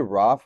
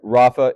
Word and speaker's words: Rafa: I call you Raf, which is weird because everybody calls you Raf, right? I don't know the right way to pronounce it. It's dawned on me like a week ago. Can you clear it up really quick? Sorry. All right, Rafa it is.